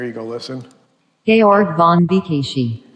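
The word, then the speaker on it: Békésy: Georg von Bikishi. Bikishi, all right? That's how you pronounce Bikishi, all right?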